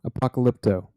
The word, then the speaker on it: Apocalypto: I would No, like to you've got an rewatch extra syllable in there Apocalypto somewhere. or That doesn't sound right. Apocalyptico. Yes. Apocalypto? Apocalypto.